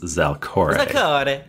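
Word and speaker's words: Zalcoré: That's Zalcor and then an E with an accent over it. I've decided that it's pronounced Zalcore. Zalcore.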